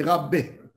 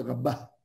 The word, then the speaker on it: Rabba: Chez les Ashkenazes, ils appellent ça Rové et Rabbé. Oui, pour différencier entre eux. Rové et Rabbé. Alors là, nous, les Sfarades, on dit Rava, Rabba. Mais il faut bien prononcer Rabba.